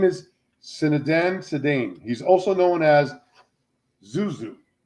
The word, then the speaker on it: Zinedine Zidane: His name is Zinedine Zidane.